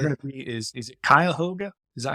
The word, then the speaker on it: Cuyahoga: And the closest we're going to be is it Cuyahoga? Is that how you pronounce it? Cuyahoga Falls up near Now Cleveland?